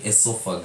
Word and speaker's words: esophagus: Pronunciation yake ni esophagus.